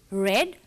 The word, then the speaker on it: read: form of the verb read. Well, remember, though we pronounce it as read, we write R-E-A-D, the same spellings as the present form of the verb.